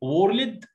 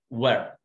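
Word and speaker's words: word: وورلد غلط، اسمها وورد وورد وير اير اير ساوند وورد.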